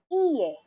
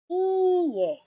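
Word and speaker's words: いいえ: This is also answerable by yes or no or hi in Japanese, and no is iye in Japanese. Again, it's iye. Longer pronunciation of that e.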